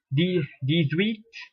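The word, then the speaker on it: dix-huit: As I mentioned to you earlier, H is silent, so it becomes these wheat, these wheat.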